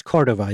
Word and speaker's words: Cordova: The first two episodes feature a really interesting expert, James Cordova. I hope I'm pronouncing that correctly. Yeah, it's Cordova, James Cordova.